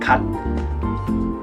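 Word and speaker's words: 갓: It's called kat. Also the same pronunciation of the god. Almost, kat.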